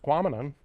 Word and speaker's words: Tahquamenon: Tahquamenon rhymes with phenomenon.